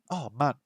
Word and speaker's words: 万: So we have hyaku, sen, man. Man. The pronunciation is very similar to Cantonese. In Cantonese, the pronunciation is man. So it's a very similar pronunciation to Cantonese there.